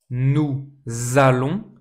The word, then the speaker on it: nous allons: Nous allons. please pay attention as always to the liaison here nous allons Same liaison here.